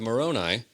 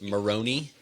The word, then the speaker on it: Moroni: Uh it's not it's not pronounced Moroni, unfortunately. I'm so sorry. Not like macaroni. Moroni macaroni.